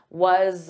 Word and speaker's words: was: I'm taking that was, but it's a z, z, it's a voiced sound. So I'm going to transfer that sound to ah. So you hear za, za, was a, was a.